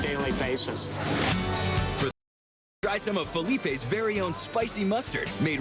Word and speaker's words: Philippe's: 60 to 80 years when it first opened the restaurant was called phelips and time Chang Frenchtown so did the pronunciation but aside from that almost nothing has changed at Felipe's in a 100 years